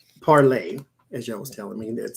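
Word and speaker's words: Parler: Just like Parlay, as y'all was telling me, that's how they pronounce it too. Parlay, the guy who created it using Mercer's money,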